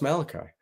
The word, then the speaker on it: Maealiuaki: But the spelling is Maealiuaki. Malaki. I mean, I guess he does look, maybe he could be Polynesian, but that is it is pronounced Malachi.